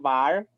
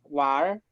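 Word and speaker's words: 玩儿: Pero si le añado la R, fíjense que es WANR, pero la N es como muda, porque cuando ellos pronuncian jugar, dicen var, war, war.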